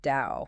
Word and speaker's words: Tao: It's actually pronounced dao like in dao Jones.